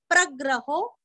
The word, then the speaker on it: प्रग्रहो: प्रग्रहो प्र के ऊपर आघात प्रग्रहो नी के ऊपर आघात निग्रहो व्य के ऊपर आघात व्यग्रो व्यग्रो प्रग्रहो निग्रहो व्यग्रो।